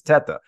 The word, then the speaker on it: Teta: But so my name is Teta. It's the correct pronunciation. I'm Italian background. The correct pronunciation is Teta. Obviously Italian.